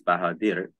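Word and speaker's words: Bahadır: name, because in Turkish, the way that my name is pronounced is Bahadir, right? Bahadir.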